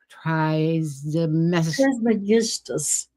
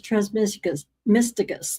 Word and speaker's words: Trismegistus: It teaches a path to salvation as taught by the legendary spiritual master Hermes Trismegistus.